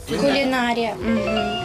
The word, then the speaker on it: кулінарія: саме кулінарія кулінарія кулінарія зафіксували у слові кулінарія наголос на букву а кулінарія кулінарія кулінарія наступне слово точно